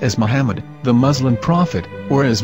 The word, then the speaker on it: Muhammad: a after the H according to Ben yehuda's Hebrew English dictionary it is correctly pronounced as Muhammad not mammad so how we're going to know for sure if it's pronounced as Muhammad the Muslim Prophet or